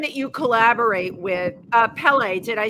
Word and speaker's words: Pelle: So, you have someone that you collaborate with, uh, Pelle. Did I say it correctly? Yes. Like the volcano, like Pelle, the angry god.